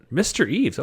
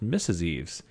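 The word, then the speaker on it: Mr Eaves: Eve so that's a new one I thought I would just missus Eve's it is mr. Eve's I take it back I've been saying it wrong for the past five minutes so we can load up mr.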